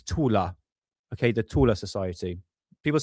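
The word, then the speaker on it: Thule: uh godsenth when see that name there that's the tus the thor society but the German pronunciation of that is tula okay the tula society people say uh the tuli or tul or tul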